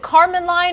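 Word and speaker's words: Kármán line: hear them when they pass the is it Carmen line is that how you say it yeah yeah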